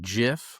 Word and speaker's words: GIF: So static, the first one you're talking about is static to, I believe you pronounce it GIF, like the peanut butter.